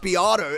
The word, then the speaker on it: Beato: You're talking to me about it's pronounced Beato and you don't even know how to generate a link with a bot.